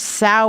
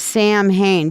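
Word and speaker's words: Samhain: now why am I saying that weird word sa instead of Sam Hayne because that's the way it's actually pronounced it is a Welsh word okay it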